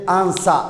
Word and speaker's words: answer: W preceded by oo ay ka hor maran SS ama ay ka hor maran T is silent. Way amusaysa example to sale w dan waxa ka hormaray s sidaas darted answer ayaa la leeyahay maxaa la leeyahay answer way